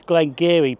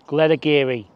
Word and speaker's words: Glenageary: This is Glenageary, but it's not pronounced like that. There is an A that you've got to pronounce, and it's Glenageary.